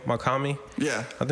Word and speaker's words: Mach-Hommy: for for uh do you know how to pronounce his name makami yeah i think it's good for him because